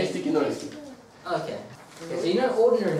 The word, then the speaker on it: крестики-нолики: Krestiki-nolici.